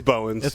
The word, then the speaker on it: Bowens: it's paulonez did I say bones or pounds it's bones yeah I felt like I said it wrong mr.